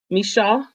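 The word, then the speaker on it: Micheaux: Mishaw, is that how you say it? Mishaw, Oscar Mishaw. I call him Michaud because it looked like DeVoe, Bill DeVoe.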